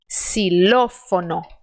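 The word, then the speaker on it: xilófono: eu digo por exemplo essa palavra que eu vou escrever com licença xilofone tá então faça esse som de sã Inclusive eu costumo contar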